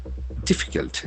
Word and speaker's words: difficult: SAR draft roll difficult. D-I-F-F-I-C-U-L-T. So it is a very interesting adjective. Difficult. Difficult. So needing skill or effort. The accent falls on the first syllable.